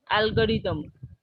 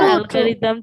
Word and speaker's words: algorithm: algorithm, no, not algorithm, algorithm. That th is pronunciated as the.